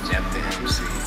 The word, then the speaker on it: JEFFdaMC: That's how you pronounce it. The great thinkers are J. Moses, Clever, Sky, JEFFdaMC.